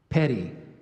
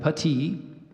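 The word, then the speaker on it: puttee: in several armies and I gave you the pronunciation of petite there's also Puti and Petty excuse me putty let me do that again so we have putty the first one I gave you there's Pootie and there's putty um inspeller 33 you're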